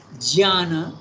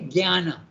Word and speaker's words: jnana: Now you compare that to the Sanskrit, jnana, okay? And in our Indian language we say jnana, G, okay? Jnana.